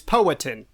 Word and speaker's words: Powhatan: video on YouTube that says that's how to pronounce the name of the tribe it's poetin po potin poetin yes uh and as we